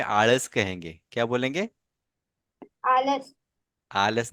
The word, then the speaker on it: आळस: हाँ, और ये बीच वाला जो लेटर है ना, इसका जो प्रोनाउंसिएशन है वो ड़ है। क्योंकि बहुत सारे इंग्लिश मीडियम के बच्चे, बहुत सारे उर्दू मीडियम के और बहुत सारे हिंदी मीडियम के बच्चे, इनको ड़ बोलना ही नहीं आता।